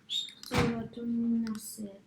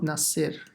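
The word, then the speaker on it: نصر: Nasr. Not Nasir. Nas. Yeah, so Sad has to be pronounced with a sakin, with a sukun, and then the ra as well.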